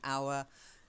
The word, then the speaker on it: hour: might mi ght an hour even though it's sound the same spelt differently okay still a homophone our and our okay because of the silent h yeah and night yeah